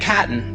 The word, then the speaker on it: chitin: world are cellulose, because it doesn't decay, and chitin. Chitin is spelled C-H-I-T-I-N.